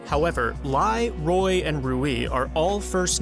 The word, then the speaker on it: Rui: On a real note, I'm glad we finally got the official pronunciation of Rui, because I can't believe we had people in 2025 still calling this character Louis.